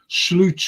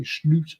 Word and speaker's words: Slot: to be honest when slute took over that's how you pronounce his name by the way slute slute the point is I